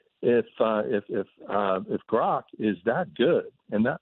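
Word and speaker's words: Grok: if if uh if grock is that good and that actually you know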